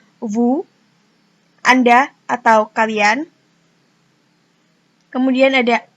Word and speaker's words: vous: Kemudian ada vous, sama seperti nous, S tidak dibaca, jadi hanya vous.